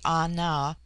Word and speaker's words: Ana: The word Ana, pronounced broadly Ana, corresponds with our plural men.